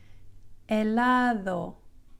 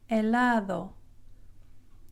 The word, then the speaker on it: helado: So it's not helado, it's a very soft D. It almost sounds like TH when you say the word bathe, bathe, B-A-T-H-E, bathe. It's not a breathy TH like bath. It's like bathe. Helado, helado.